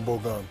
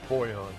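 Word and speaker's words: Bojan: Boyan or Bogan? Boyan. Boyan, got it.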